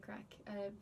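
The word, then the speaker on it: craic: So like the first one is like without a doubt everyone knows like what's the crack, and crack is spelled C-R-A-I-C.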